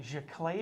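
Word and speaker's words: giclée: inkjet archival jaclay process she clay's just a fancy french word uh to mean our archival inkjet process there where we're gonna spray that on g-i-c-l-e-e with an accent on the first e so when we have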